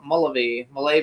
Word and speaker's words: Mullavey: Now we're going to bring out our next guest, who is Greg Mullavey, I think is how we pronounce it. Mullavey.